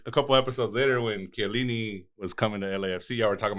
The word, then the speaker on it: Chiellini: I was like, Ram, it's Chiellini, not Chiellini.